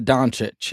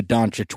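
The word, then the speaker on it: Dončić: Luka Doncic. Is that how you say it? Doncic? Luka Doncic.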